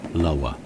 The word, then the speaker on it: Loughor: Now the Hornby box says that Dodo was made for the Loughor Colliery, Swansea. I'm told by one of my Welsh friends the correct pronunciation is much closer to Lower.